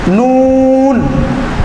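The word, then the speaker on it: نون: সুন্দরভাবে বুঝিয়ে শিখিয়ে দিব ইনশাআল্লাহ মিম মিম মিম নুন নুন নুন নুন হরফটা উচ্চারণ করতে গেলে বাংলা বর্ণ দুটি লিখতে হয়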